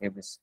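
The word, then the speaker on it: hubris: গর্ব এই টাইপের সো এখানে হিউব্রিস না হিউব্রি এটা উচ্চারণ ইম্পেরিয়াল হিউব্রি একটা বই আছে না হিউব্রিস ঠিক আছে হিউব্রিস ওকে হিউব্রিস মানে এই যে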